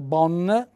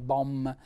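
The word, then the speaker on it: bòm: poi arriviamo all'aggettivo bohm alcuni in alcune valli dicono bonn noi qui tendiamo a mettere la m bohm che al femminile diventa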